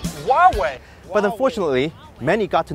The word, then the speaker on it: Huawei: It's actually pronounced Huawei.